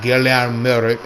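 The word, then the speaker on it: Galen Marek: Gallen Merrick, pronounced as Gilead Merik in their account, code named quotequote stall killer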